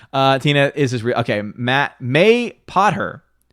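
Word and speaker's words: Mapother: too Tina says Tommy mapa Thor is Tom Cruise whoa I forgot that's his real name Tina is okay Matt may pot her may pot her wait that says that's how you pronounce it Tommy may Potter what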